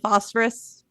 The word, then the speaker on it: phosphorus: Silent P and phosphorus.